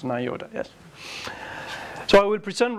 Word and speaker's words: NIODA: Or is it well pronounced? NIODA, yes.